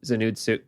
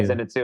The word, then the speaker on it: Zenitsu: like, "Thank God I can break over to Zenutu. Zen Zenitsu, how do you say it?" Yeah. Zenitsu and Yeah.